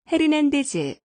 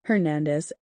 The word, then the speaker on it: Hernandez: 우리 발음으로 먼저 들어보고 영어로 들어보도록 하지요. 로드리게즈, 헤르난데즈, 몽고메리, 맥도날드, 라미레즈, 곤잘레스 모두가 한국식 발음이고요. 미국식 발음은 다음과 같습니다. 들어보시지요. Rodriguez, Hernandez, Montgomery, McDonald, Ramirez, Gonzalez.